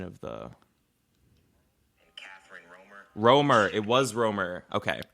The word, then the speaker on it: Romer: the Romer it was Roamer okay Roamer I knew it was strange because I was like well they roam so use that as like a mnemonic device and like remember their